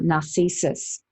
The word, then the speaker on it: Narcissus: a few stories about narcissus and or narcissus uh is is how his name's actually pronounced and uh some of